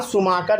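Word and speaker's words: Schumacher: एस एच ओ है इसको सुमाकर ही पढ़ा जाता है लेकिन स्पेलिंग क्या है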